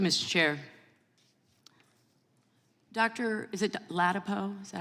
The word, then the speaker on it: Ladapo: Bal thank you Mr chair Dr is it lpo is that how you pronounce ladapo sure it's all good either way no but how do you pronounce your name lpo lpo I like to get it right okay' are